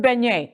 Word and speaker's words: beignet: Just point me to the nearest beignet. That's how you say it, right? Yes.